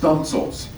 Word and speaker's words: studding sails: And my favorite here is Victory had what we call studding sails, pronounced stunsails.